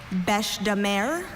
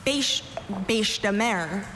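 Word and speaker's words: bêche-de-mer: Your word is bashare or bash bashare. So besare bashare.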